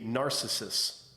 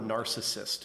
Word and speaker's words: narcissist: introduce someone that they called the Narcissus. Or Narcissus. Because neither Bobby or Vince McMahon could say the word narcissist. They could not pronounce it right ever. No. It was like this foreign word to them, okay? Narcissist. It ends with a T.